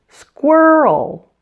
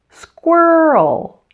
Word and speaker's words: squirrel: you oh oh and did you notice the sound before the L it's a little added vowel sound oh oh it almost seems to make this into a two syllable word squirrel squirrel let's put it all